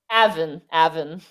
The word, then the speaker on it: Avon: Is it Avon? Avon. Yes.